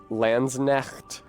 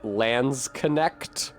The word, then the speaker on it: Landsknecht: It's German. You don't have to say Landsknecht. Like, it's fine. If you want to say Landsknecht or Landsknecht, it's fine. But the English word knight should prepare you to consider that maybe you don't pronounce the K.